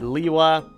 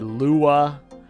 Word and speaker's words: Lewa: of Lea's name so we've had Lewa we've had Lea we've had Lua now we have Lewa Lewa TOA of air Lewa where they really enunciate the W so I fully expect